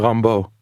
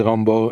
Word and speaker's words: Rimbaud: the highlight he references the French poet U Rambo r i m b a u d he doesn't spell it out indeed and so it's report British